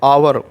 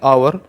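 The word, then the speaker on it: hour: ना कि हावर यह जो है साइलेंट है आवर हम इसको बोलेंगे आवर तो एक की वजह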